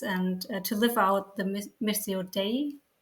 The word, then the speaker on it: Missio Dei: churches and dioceses and to live out the Missio Dei. How do you pronounce this? Yep, Missio Dei, mission of God.